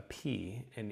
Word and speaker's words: pi: Now, you've always heard it as pi, so you might as well stick with it now. This is, of course, the 3.14 constant that the ratio that we use in math. But it is going to have that P sound exactly as you would expect.